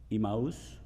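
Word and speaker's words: Emmaus: on the road to Imos. That's the way to pronounce it in Spanish at least.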